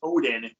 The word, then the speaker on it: Odden: can trace back directly, of course, but it's Odin, the way it's pronounced, and looking at the Nordic history and